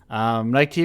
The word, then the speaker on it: Nike: Did a Bad Thing, Nike," pronounced as written. Nike TV, Nike, how are you doing today?